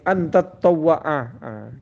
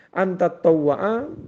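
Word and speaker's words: تطوّع: menjawab tidak Ila kecuali antat tawa'aa keliru tadi bacanya tattawa Ya Anta tawwaa menunaikan sunnah siapa Engkau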